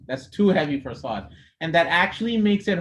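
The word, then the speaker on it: ص: supposed to be there you pronounce the song only put your tongue on the bottom teeth that's it you don't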